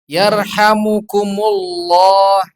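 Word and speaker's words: يرحمكم الله: Yarhamukumullah. Yarhamukumullah. Beda. Tadi kuma, sekarang kumu.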